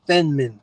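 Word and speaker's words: Feynman: car you get in a whole it's the fenman technique if I pronounce his name right it's Fe y n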